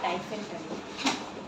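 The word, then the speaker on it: dysentery: ছয়টার মধ্যে ডিসেন্ট্রি একটা হচ্ছে ডিসেন্টারি ডিসেন্টারি না ডাইসেন্টারি ডিসেন্টারি ডিসেন্ট্রি বা ডিসেন্টারি এটা ই এর উচ্চারণ তো আসলে হয় না ডিসেন্ট্রি টি ই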